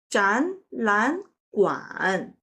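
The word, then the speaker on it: 展览馆: In this case, 展 changed to the second tone because it encountered 懒. And then 懒 also changed to the second tone because it encounters 馆. So the pronunciation of this word is 展览馆.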